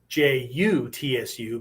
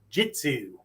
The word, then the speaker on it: jutsu: But because they hear the clipped U, and to them it sounds like an I, Next thing you know, you got some Southern Billy Bob going jitsu, ninjitsu, ninjutsu.